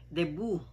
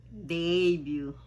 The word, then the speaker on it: debut: Marami po nagsasabi niyan is debut. Ang pronunciation po niyan ay debut.